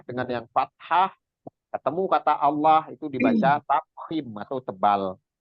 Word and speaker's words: Allah: Ya tadi kalau dari domah atau fathah dibacanya tebal, itu namanya tafkhim. Dibaca tafkhim namanya Allah itu tafkhim itu. Allah. Tapi kan Allah itu tafkhim, tapi billah itu tarkhim itu tipis. Nah, itu contohnya.